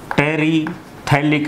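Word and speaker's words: terephthalic: तो दो monomer units इसकी हैं, एक तो होता है टेरिथैलिक एसिड, पी साइलेंट है बोला नहीं जाता, टेरिथैलिक एसिड, और दूसरा है इथाइलीन ग्लाइकोल।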